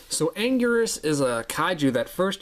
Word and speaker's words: Anguirus: It's the 2006 Final Wars Anguirus, or Angulus, however you want to pronounce it. They actually pronounce it several different ways throughout the movies, I'm pretty sure. Or at least with the English dubbed audio they do.